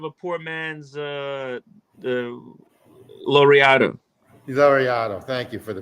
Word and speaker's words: Laureato: Laureato. Thank you for the pronunciation.